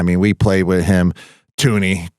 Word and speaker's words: Thuney: Tuney, Thuney, however you say his name. I think that H is silent.